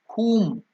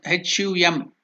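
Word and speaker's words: हुं: So when we write the mantra as HUM, whom, you can also think as HUM, hum. So that's why I have written the spelling as HOOM, the correct pronunciation. It's very difficult to bring out the Sanskrit pronunciation, the Hindi pronunciation, or any Indian language pronunciation in English, because English has its own lacunae. So here the correct pronunciation is HOOM, whom.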